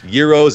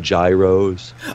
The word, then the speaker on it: gyros: you probably call them Gyros oh yeah they're pronounced Euros I they're pronounced multiple different ways Euro Gyro Hero whatever you want to say but I personally want